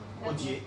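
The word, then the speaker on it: Odier: O-D-I-E-R, comme ça se prononce. Audier.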